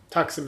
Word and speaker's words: Taksim: Taksim is, I think, is the proper way of pronouncing it.